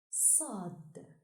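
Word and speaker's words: صاد: The 14th letter is pronounced Sad and is written from right to left on the line. Sad, like in sorrow.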